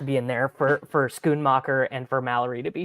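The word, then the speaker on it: Schoonmaker: comes Titans we've got Luke how do you pronounce his last name Musgrave he's out no no s c h o o n scoon mocker yeah yeah he also he's like a third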